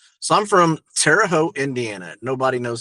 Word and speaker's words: Terre Haute: So, I'm from Terre Haute, Indiana. Nobody knows how to pronounce this place. It's Terre Haute.